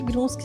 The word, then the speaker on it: Grunschy: Grunsky se escreve GRUNSCHY.